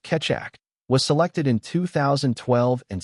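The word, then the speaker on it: Keccak: Similar to the AS competition, after 5 years of public cryp analysis, the Ketchac algorithm, pronounced Ketak, was selected in 2012 and standardized as S.H.A.-3.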